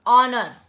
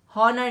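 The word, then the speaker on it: honour: ऑनर, एन ऑनर, ठीक है, यहाँ पर भी ऑनर आएगा, ठीक है। हॉनर नहीं आएगा, ये एच साइलेंट है यहाँ पर भी, और सिंगल है, अनस्पेसिफाइड है।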